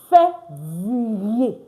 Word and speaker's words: février: I already told you, ER is pronounced A. Février. Vier.